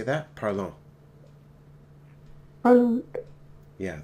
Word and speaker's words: parlons: So parlons. Can you say that? Parlons. Parlons. Yeah, there's no T added onto the end of that.